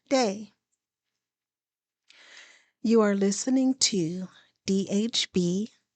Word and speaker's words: DAA: DAA are my initials, pronounced Day.